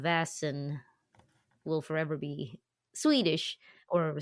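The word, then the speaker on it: Vaesen: Um, with a Swedish uh Vassen Vassen. Okay. So, no vashin or no vas. Vasin? No. Uh, vasin I've heard as well. Um, no, it's vas vasin. Very similar. Okay. It's an a sound.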